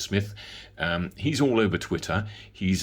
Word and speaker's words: Smythe: Paritech has a joint venture with a chap called Carl Smith, which has got spelt with a Y and an E, so maybe you pronounce it as Smythe, but I think it's Smith.